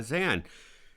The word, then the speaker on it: Zain: pronounced literally so uh if you think of the word van that's how my name is uh pronounced we will take that